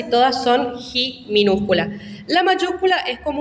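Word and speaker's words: chi: La siguiente es ji. Ji es el sonido J.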